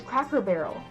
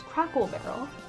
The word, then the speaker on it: Cracker Barrel: It's Cracker Barrel. But I thought it was Crackle Barrel.